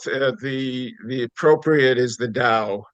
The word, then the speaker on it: Tao: him is should I be pronouncing it the da or the T you know it's it's both the the appropriate is the da spell Tao but the da of leadership yeah